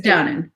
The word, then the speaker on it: Downen: It doesn't have to be pronounced or said. It's fine. It's Downen.